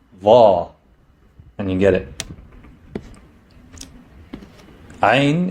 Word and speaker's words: ع: Ain is pronounced like the soft growl of a dog.